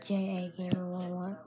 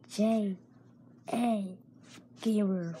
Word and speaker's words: J.A. Gamer: What's up, it's your boy J.A. Gamer. One thing I have to say. Y'all say my name is J.A. Gamer 101.